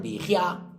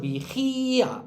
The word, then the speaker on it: vigía: Si decimos vigía, hay que ponerle tilde a esta porque está al lado de una fuerte. Y si le ponemos la tilde, rompemos ese dictongo. Si fuera vigia, pero tampoco se dice vigia, ¿no? Pero gia podía ser distongo. Ahora bien, si es vigía, tengo que poner la tilde y rompo el distongo, lo convierto en un iato.